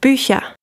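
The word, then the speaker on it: Bücher: the singular form so first you have boo you have to see age in the back of your throat and then you have boucha it's made of more in the front so for me this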